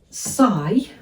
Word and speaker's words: sigh: If this is making you sigh, have a go at that one. S and I, because of course the GH are silent letters.